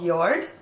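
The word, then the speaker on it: Jord: my blog with this company and they're called yard it looks like the word George but they pronounce it with a why like yours they're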